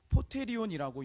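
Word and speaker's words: ποτήριον: 기록되어 있는 것을 볼 수 있습니다 이것은 원어로 포테리온이라고 읽는데이 원어의 뜻은 어떤 뜻이 있냐면 그릇이라는 그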